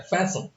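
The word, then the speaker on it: fasten: देखिएगा इसमें टी का उच्चारण नहीं होता है, फैशन।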